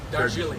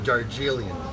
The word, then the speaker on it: Darjeeling: How do you pronounce that? Darjeeling. Darjeeling.